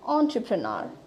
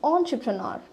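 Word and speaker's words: entrepreneur: So আপনাদের যদি pronunciation শেষে আমি বলি এটা প্রোনাউন্সিয়েশন হচ্ছে অন্টারপ্রেনর. ইটস অন্টারপ্রেনর. আমার সাথে সাথে আপনারা রিপিট করবেন অন্টারপ্রেনর. সো the word here is অন্টারপ্রেনর. সো এখানে আমরা দেখতে পাচ্ছি ইট have four syllables actually. So উই can speed this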